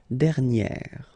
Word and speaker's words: dernière: Okay, and you will get dernière.